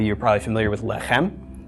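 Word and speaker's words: לחם: the M of the final mem lek M pronunciation of this word and a lot of you are probably familiar with left hem lefm means bread or sometimes use to mean food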